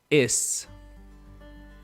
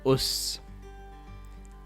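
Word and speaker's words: اس: Is or us. Is or us. So this word has two pronunciations depending on the diacritic that is used with it.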